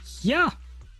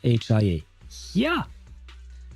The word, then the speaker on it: HIA: But no, you say you say hand and tops which means it should be pronounced here.